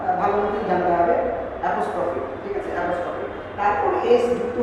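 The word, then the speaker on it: apostrophe: তো বানানটা হচ্ছে APOSTRO, ওটা কিন্তু উচ্চারণটা ভালো মতো জানতে হবে, অ্যাপোস্ট্রফি, ঠিক আছে অ্যাপোস্ট্রফি, তারপর এস যুক্ত হলো কি হলো না তার উপর ভিত্তি করে অ্যাপোস্ট্রফি এস, কিন্তু অ্যাপোস্ট্রফিস বলা তো ঠিক না, মানে আমরা এই ধরনের কিন্তু মানে মিসগাইডেড প্রনাউন্সিয়েশন অপশনে শুনে থাকি।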